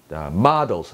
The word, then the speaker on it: models: These include models, models, 모델이 아니에요.